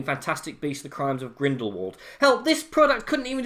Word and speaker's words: Grindelwald: None of which was present in Fantastic Beasts: The Crimes of Grindelwald. Hell, this product couldn't even decide on how to pronounce its villain's name!